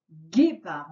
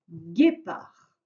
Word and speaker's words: guépard: À la fin de guépard, il y a un D qui est muet. Donc, si tu l'oublies, c'est